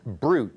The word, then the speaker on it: BRUT: on the list is pronounced brute just like the champagne stands for brass utility